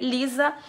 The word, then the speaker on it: Lysa: esse cabelão e Laísa o nome tá se escreve l y s a se escreve Lisa com Y para você encontrar ela